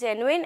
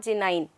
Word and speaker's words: genuine: own world only so the correct pronunciation towards this word is genuine and not jinning and the meaning over